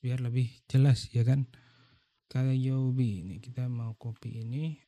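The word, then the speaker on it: 火曜日: Kuyobi salah guys. Sorry. Ini bacanya Kayobi guys ya.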